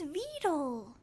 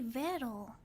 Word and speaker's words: Vettel: Vettel? I thought it was Vito. I've always said Vito. Is it actually Vettel? I've been mispronouncing it the whole time.